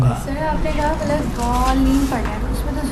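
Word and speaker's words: الضالين: اگر آپ ولا ضالین کہیں گے، آپ دقت سے آپ انشاءاللہ تعالی تجوید کے قوانین میں جا کے دیکھیں، زین اور ضاد میں اشتباہ ہوتا ہے. اس زین اور ضاد کا اشتباہ سے بچنے کے لیے قرآن نے آ کے اس کا تلفظ دال جیسا کیا ہے. دال جیسا ہے، دال نہیں ہے. دیکھیں ولا ضالین دال ہے، اما ولا ضالین دال جیسا لگتا ہے، دال نہیں ہے.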